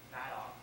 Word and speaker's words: Madoff: And this guy, I like to say his name is Madoff. It's really Madoff, like Madoff with all your money.